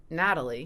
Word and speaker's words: Nathali: Um it's pronounced Natalie.